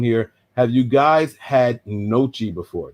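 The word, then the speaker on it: gnocchi: Have you guys had Nochi before? That G is silent, if I'm not mistaken.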